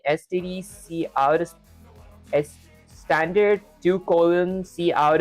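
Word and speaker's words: std::cout: out standard two colon see out is pronounced standard character out.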